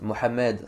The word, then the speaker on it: Mohammed: En conclusion, en clair, le prophète Mohammed sallallahu alayhi wa sallam, c'est la prononciation musulmane.